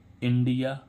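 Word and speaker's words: India: जैसे आई एन, इन, है ना, आई एन डी आई ए, इंडिया, है ना, इंडिया। तो इसका उच्चारण क्या हो रहा था?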